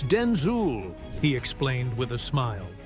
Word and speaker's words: Denzel: "My name is not Denzel, it's Denzul," he explained with a